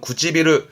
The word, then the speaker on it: 唇: 하지만 입술은 이렇게 해서 혼자 두면서 발음은 구찌비루 하면서 입술은 흔히 쓰지요.